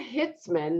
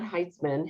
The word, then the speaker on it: Hitzman: And we also have Sue Hitzman, not Heitzman, Hitzman.